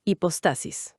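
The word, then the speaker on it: hipóstasis: La eh, a ver si lo pronuncio bien, la hipostasis. Lo pronunciaste perfecto, hipostasis.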